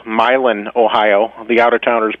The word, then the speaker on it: Milan: fact we're right near a little town called milin Ohio the OU of Towners pronounce at Milan yes but uh it was known for Thomas